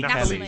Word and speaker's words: Nathalie: interest of the movie, Neela, played by Nathalie Nathalie Natalie. Kelly. It's Nathalie. Natalie. It's No. Natalie. It's spelled Nath.